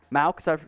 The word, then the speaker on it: Mauch: I did Cody Mauch, is how it's pronounced, last time.